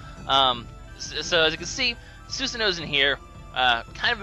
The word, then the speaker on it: Susanoo: He's Susanoo.